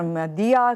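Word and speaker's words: मदीहा: और हमारे साथ इस वक्त मुझे doctor मदिया, consultant paediatric infection disease Indus hospital से इनका ताल्लुक है।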